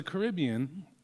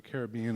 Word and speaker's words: Caribbean: So the Caribbean, or the Caribbean if you like, you hear it both ways all across the islands. I get asked often, how do you pronounce it? I say, however you like.